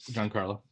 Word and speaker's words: Giancarlo: Is it Giancarlo or Juan Carlo Esposito? How do you pronounce his name? Giancarlo.